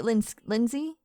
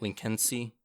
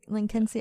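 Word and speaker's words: Lynskey: Melanie Lindsay? Is it just Lindsay? No, it's not Lindsay. It's like Lincolnsey. Lincolnsey? Okay. Like Lincolnsey.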